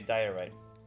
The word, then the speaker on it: diorite: Bug bug man says Googled it and it's pronounced theory day diorite. Really? Oh no. Diurite. Okay. Diite like the word die.